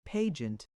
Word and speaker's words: pageant: He pronounced it pageant. He rhymed pag with rag.